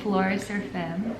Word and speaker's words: Florecer Femme: But I wanted to now go into Florecer Femme.